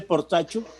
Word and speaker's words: Portacio: del apellido por tasio ese apellido por tasio lógicamente es italiano se dice por tacho se pone se escribe